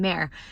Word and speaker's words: Mer: But I think that's a beautiful name, Mare, M-E-R. I mean, some people might pronounce it Mur.